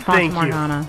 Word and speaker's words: Fata Morgana: Yeah, it's Fata Morgana. Okay. So, Fata Morgana.